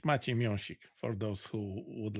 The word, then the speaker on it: Maciej Miąsik: It's Maciej Miąsik for those who would like to hear the actual pronunciation, the proper one.